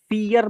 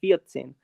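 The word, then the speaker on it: vierzehn: ड्राइसेन ये आएगा फियतसेन अब यहां पे फियर मत कर देना पियर फियर नहीं करना है पियतसेन आर जो है वो हल्का हो जाएगा ठीक है ना ये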